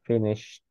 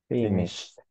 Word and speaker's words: finished: it is like a finished finished uhuh yes it is like you don't pronounce like the letter e so it's like just finished finish finished I have